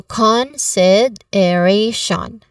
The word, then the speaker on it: consideration: The stress syllable here is on A. A, the diphthong sound itself. That's the stressed sound or stressed syllable.